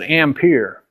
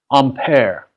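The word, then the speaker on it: Ampère: car or the zodiac who knows how to pronounce amperes name don't know we all pronounce it ham peer in fact it's a head it would actually be pronounced unpair yeah so if you ever go to France you're going to want to know that or they're gonna be real offended that you didn't pronounce it right I don't know if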